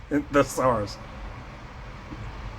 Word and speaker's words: thesaurus: You pronounce the T thesaurus.